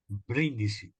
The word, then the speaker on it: Brindisi: So do you pronounce it Brindisi or Brindisi? Brindisi, Brindisi.